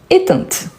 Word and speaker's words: éteinte: Ce sont éteintes. OK? Ce sont éteintes. Donc, attention aux détails, car sinon, la prononciation ici, elle change. Éteint, éteinte. Donc, on prononce le T à la fin.